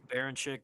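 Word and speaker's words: Berinchyk: I think and then obviously uh uh Denise uh Bernchuk I hope I said it right if I how do you how do you say his name? I'm so sorry. I'm terrible with names. Baron Chick.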